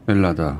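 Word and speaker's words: Ελλάδα: 말하자면 헬라스, 헬라도스, 헬라디, 헬라다 이렇게 되는 것이 맨 앞에 H 발음 안 하게 되고 엘라다.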